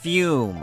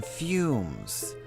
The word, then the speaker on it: Fume-shroom: It's not fume, it's fume, as in fumes.